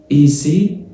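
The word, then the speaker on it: essayer: بص يا باشا هي هتتنطق إزاي؟ إيسي الأو ار في الآخر بتتنطق إيه؟ هي هتتنطق إيسي ليه؟ بص الإي مع الأي في الفرنساوي بتتنطق إيه طويلة. تبقى وأصلا اتفقنا إن الواي بتساوي الآي في نفس النقطة تنزل تمام كده. واحنا اتفقنا إن الآي بتساوي الواي والإي جاي بعدها اي اصلا بتتنطق فاكن بالظبط نفس الفكره. اكن الاي الواي دي اكنها اي تبقى ايسي يعني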